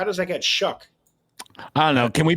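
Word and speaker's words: Shough: How does that How does that get shuck? I don't know. Can we pronounce it suck?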